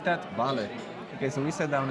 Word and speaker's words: vale: Can we learn how to say the word vale? Yes, you say that in any social interaction. It means everything and anything. At the same time. Is that enough to order? Vale. Do you like that? Vale.